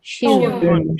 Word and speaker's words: schön: pronounced? Yo. Yo. Yo. Shown. Shun.